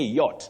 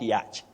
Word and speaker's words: yacht: Ben Yansimera, you say yacht, not yacht. Yachting, not yachting. Betty, how many times do you hear of yachting? I don't want to say many times because I will say I'm hanging around people. It's yacht for that leisure boat. You say yacht, and you say yachting.